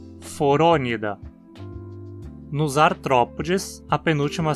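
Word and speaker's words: Phoronida: Da mesma forma, então, dizemos priapúlida, gnatostomúlida, forônida. Nos artrópodes, a penúltima sílaba, po, tem vogal curta também.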